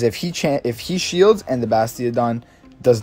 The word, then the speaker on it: Bastiodon: up is going to be the Blastiodon. Did I completely mess that up? Yeah, I'm pretty sure I did. Yeah, it's Bastiodon. I could be saying it wrong.